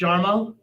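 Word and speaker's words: Jarmo: is his first name do I pronounce it yarmo is it yarmo yeah it's yarmo yarmo kealan yeah kealan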